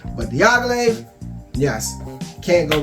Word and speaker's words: Diaghilev: And Diaghilev, Diaghilev. That's how you say that, Diaghilev. All right. Whenever you pronounce Roja Dove's fragrance, Diaghilev, you have to put some manhood in that one, Diaghilev.